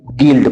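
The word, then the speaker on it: guild: जैसे जी यू आई एल डी, देखो यू के बाद आई आ गया, तो जब यू के बाद आई आया तो हमारा यू साइलेंट हो जाएगा, तो इसको बोलेंगे जी आई एल डी, गील्ड पढ़ा जाएगा इसको।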